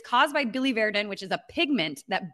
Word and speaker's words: biliverdin: It's called Billy Verdin. I have to figure out how to pronounce that every single time. But it's caused by Billy Verdin, which is a pigment that builds up in